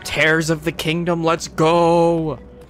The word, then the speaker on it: Tears: okay we have talked guy who pronounces tears of the Kingdom's name like Tara is the word for rip tears of the Kingdom let's